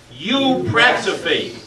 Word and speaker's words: eupraxophy: I call it eupraxophy. Now, can you pronounce that, please? Eupraxophy.